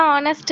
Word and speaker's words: honest: He is an honest man. Ma'am. He is an honest man. Okay. Fine. Letter is a consonant. H is a consonant but we are but H is silent.